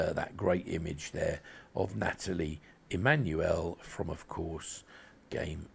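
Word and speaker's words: Nathalie: or Natalie Natalie Emmanuel and she pronounces it Natalie sorry it's just a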